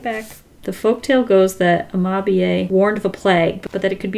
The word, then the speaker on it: Amabie: It's actually pronounced Amabie.